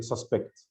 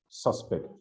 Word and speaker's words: suspect: second syllable for example you are the suspect so the first syllable has a noun suspect i suspect so is the second syllable it's like present and